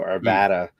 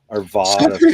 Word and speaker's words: Arvada: all right cool yeah I guess ARA the a sound sounds way too country in my brain so Arvada sounds like something that that a Southern Kentucky Texan would say and Arvada sounds arada some yeah that flat a though is is one of the uh ttal of the Colorado accent because we're Colorado not